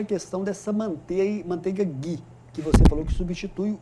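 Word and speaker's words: ghee: E a manteiga Gui, né? O o GUI escreve GH e E. É assim que se escreve manteiga Gui, ou também conhecida como manteiga clarificada.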